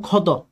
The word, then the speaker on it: ক্ষত: যেমন ক্ষত, তাহলে ক্ষত শব্দটার মধ্যে আপনি দেখেন এই ক্ষীয়র স্থলে আমরা কি বসিয়েছিলাম? খ। আর ত যেহেতু হর্ষ চিহ্ন যুক্ত নয়, হর্ষ চিহ্নের বাইরে, এখানে ত সংবৃত হয়ে ত হয়ে গেছে।